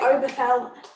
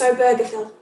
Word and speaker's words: Obergefell: john arthur and jim obergefell a birther film and people wanting to say overflow i did look up how to pronounce it it's obergefell so john arthur and